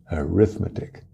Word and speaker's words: arithmetic: Então tem que ver essas 2 palavras, quando estão sendo usadas, só se diferenciam pela ênfase da sílaba, a tonicidade, tá? Arithmetic e arithmetic.